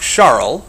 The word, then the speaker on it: Charles: Around the same time in France Jacques Charl and that's how he would have pronounced his own name. You can call him Charles that's fine.